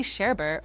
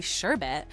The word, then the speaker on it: sherbet: Many say sherbet, but it's actually sherbet. It's like saying share and bit together.